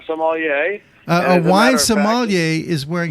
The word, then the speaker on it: sommelier: Is it a sommelier? Yeah, sommelier.